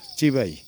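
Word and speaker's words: Chibai: তাদের বাসায় স্বাগতম লেখার এটা হচ্ছে উচ্চারণটা চিবাই মানে স্বাগতম এই ঘরটা আসলে কি কোন দোকানের মতো কিনা বা কিরকম বুঝতেছি না।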